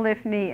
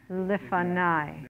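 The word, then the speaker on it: לפני: No, there is no lifni ever. Lifanai.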